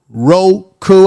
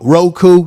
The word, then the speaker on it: Roku: we are live on ro crew i always say it wrong roku tv if you got